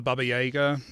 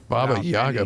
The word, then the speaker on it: Baba Yaga: So one of them is, so to become the Baba Yaga or Baba Yaga. Sorry, I always mispronounce it. It's which should have been a rapid fire question. Baba Yaga.